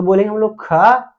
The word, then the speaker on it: ख: उच्चारण करने के बाद बोल गलत देता है वो, ख थोड़ा सा लंबा सांस लेके बोलना पड़ता है।